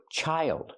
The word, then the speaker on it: child: And this word child. Use the long I like hi and like.